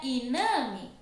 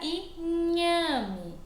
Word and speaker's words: inhame: Se não tivesse o H aqui, seria iname, porque o som do N é assim, né?